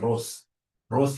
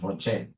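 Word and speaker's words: ROCE: whenever I see Rocher please don't pronounce this as Ros is my sister Ross is your mother professionally we pronounce this as Rocher whenever I see this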